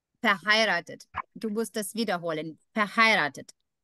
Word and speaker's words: verheiratet: Also du musst auf I Akzent I. Und ja, diese Betonung machen. Also nicht verheiratet, I. Nicht verheiratet. Verheiratet.